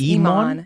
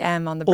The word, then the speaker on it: EmOnTheBrain: No, at least you got it right because a lot of people think it's like EmOntheBrain. They think my name's Emon. Yeah. It's a common misconception. Why? So, because it's spelled EmOnthe brain. I mean, it just seems... Logical that it would be M on the brain.